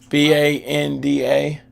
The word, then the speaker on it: Banda: banana bonanda ben isn't his last name banana b-a-n-d-a banana or is it banana no it's banda it's banana maybe how he pronounces it banana yeah man yeah we either